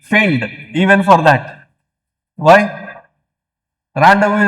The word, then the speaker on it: rendezvous: Rendezvous is a French word which is written with extra syllables. French mein, they write extra syllables and almost every third letter is silent.